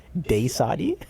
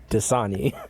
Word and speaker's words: Dasani: What are you supposed to call it? Dasani. Dasani. You say it like it's a black person. Daysadi. Dayquad. What? I didn't know Daysadi was the Negro water. Oh no. Wait. Not the Negro water. Wait. Oh my. How do you say it? Sorry? It's Dasani. No, it's Dasani.